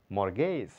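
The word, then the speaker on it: mortgage: করা মর্ট guess বন্ধী মর্ট না টি এর কোন সাউন্ড নাই মর্গেজ মর্গেজ বন্ধ কি মর্গেজ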